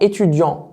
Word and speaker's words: étudiants: الي étudiant، ils sont étudiants، الاس ne prononce pas والتي ne prononce pas.